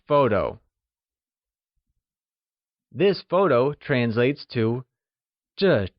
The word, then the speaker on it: 这: This translates to 这 and is pronounced using the falling tone. Can you try and say 这?